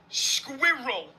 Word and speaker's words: squirrel: Squirrel.